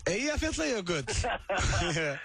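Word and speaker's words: Eyjafjallajökull: Eyja, Fjalla, Jökull.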